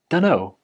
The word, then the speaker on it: dunno: Basically, the t sound at the end of don't gets dropped because when you're speaking quickly, the t is a little bit difficult to say. And then don in don't becomes done.